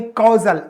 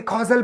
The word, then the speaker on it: causal: एक कैजुअल है CASUAL है, और एक बोलता है CAUSAL, मतलब कहीं ना कहीं कॉजल, ACAU कॉजल। अब इसको हम क्या पढ़ेंगे, कॉजल पढ़ेंगे, और इसको बोलेंगे कैजुअल।